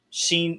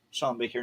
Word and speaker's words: Sean Baker: Sheen Shawn Baker. Shawn Baker. Shawn Baker.